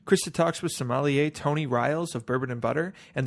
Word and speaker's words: Rials: restaurante lombardo and tony riles and that is the proper pronunciation of your name it is thanks from bourbon and